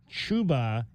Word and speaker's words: Chubba: Chuba, as in choo-choo. Chuba, even though it's spelled Chubba, Chuba Maye, M-A''AE, is how you pronounce his name.